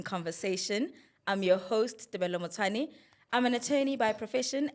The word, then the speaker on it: Nyandeni: Nyandeni.